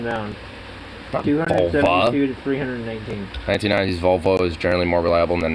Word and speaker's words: Volvo: than 1990s Volkswagen vulva I'm saying Volvo or Volvo it's not vulva yeah we can't get it I mean even though it's spelled differently the first part of the word does sound similar but it's it's the more of a Swedish word so it's also going